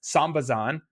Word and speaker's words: Sambazon: say I should clarify I've always said sambazon I have a feeling I've also heard it as sambazan how do you say it potato potato you it depends if you're saying it Portuguese or English but sambazan sambazan it